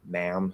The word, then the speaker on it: ma'am: men uh first one uses add plus m ma'am second one uses apples n man the third one uses e plus n min um i've talked not